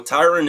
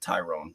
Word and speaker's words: Tyron: Wait, Tyron. T-Y-R-O-N. It's spelled like Tyrone, but not. His name is Tyron, and a lot of people call him. A lot of people in the industry too call him Tyrone, but Jesus it's sad.